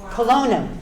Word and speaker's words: Kelowna: It's called Kelowna. Yes. Oh, that's how you pronounce it.